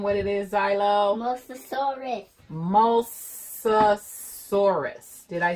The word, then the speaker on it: Mosasaurus: Mosasaurus.